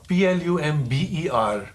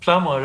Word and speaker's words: plumber: just one more uh p l u m b e r plumber plumber and not plumber so though these are